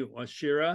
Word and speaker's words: Wachira: want to introduce you to my friend washira does that pronounce that correctly yes you did yes you